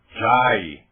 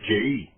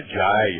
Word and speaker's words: jai: Por exemplo, o termo jai, que as pessoas estão pronunciando jay. Jay é nome de homem nos Estados Unidos. Aquele termo é jai mesmo.